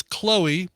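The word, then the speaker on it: CXLOE: It is Chloe, but that's spelled CXOLE. Silly.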